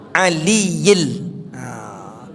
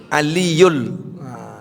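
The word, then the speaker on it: الْعَلِيِّ: Tapi masih banyak yang membaca aliyul. Gak boleh. Lain lagi artinya tuh. Karena ada bi. Bi itu dalam bahasa Arab huruf jar. Huruf jar itu mematikan meletakkan baris kasrah. Ah billahi billahil aliyil azim. Yang aliyul itu adalah ayat kursi.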